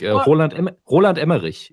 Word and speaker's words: Roland Emmerich: So whenever somebody comes up like Roland Emmerich is how you would pronounce Roland Emmerich, and whenever somebody pronounces his name English, I'm like, wow, it's just Klingon.